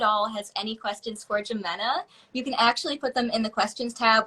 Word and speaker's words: Jimena: say though okay so my name is pronounced Ximena Jimena oh my God don't